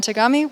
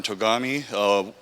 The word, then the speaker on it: Togami: you can ask some questions so um tagami we'll be giving a brief overview we also